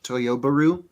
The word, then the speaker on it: Toyobaru: By the way, the correct pronunciation, because everyone's trying to combine Subaru and Toyota, it's Toyobaru. Okay.